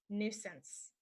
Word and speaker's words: nuisance: the next one is nuisance nuisance and a nuisance is something that bothers you so to remember it you could say my neighbors knew since I moved in that I wouldn't be a nuisance my neighbors knew since